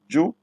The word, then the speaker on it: Jụ: Jụ, you with dot under is pronounced as O. The other one is pronounced as U.